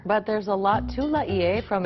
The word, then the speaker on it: Laie: It's spelled L-A-I-E, which is Laie. The old timers say Laie. When we hear Laie, we know they're from the original group.